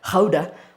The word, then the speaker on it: Gouda: Apparently, it's Dutch. It's supposed to be pronounced Gouda, but Lord knows, I'm not going to say that.